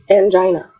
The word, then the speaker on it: angina: Next word, angina. Angina. How are we going to say that in simple words? You can break it down in the words an, j, and I, and a. So angina. Angina.